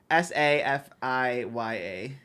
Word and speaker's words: Safiya: Safiya. Are you sure you're saying it right? It sounds like Safia, maybe.